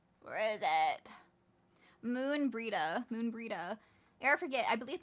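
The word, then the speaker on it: Moenbryda: Uh, I believe hang on gave me the pronunciation. Where is it? Moon Breida. Moon Breida, forget. I believe Moon Breeda has requested a gathering of the scions.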